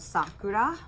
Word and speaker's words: Sakura: other yarn by lang called sakura which is how you say it in japanese i just thought i'd